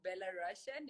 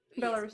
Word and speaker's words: Belarus: all the way from bella russian am i pronouncing that correctly belarus belarus it is goodbye to all of